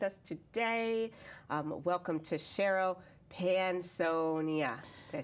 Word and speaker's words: Panosian: Welcome to Cheryl Panosian. Did I say it right? No, Yeah, no, that's you. okay. I told you. It's Panosian.